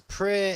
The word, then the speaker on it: Praey: It's called Pray for the Gods.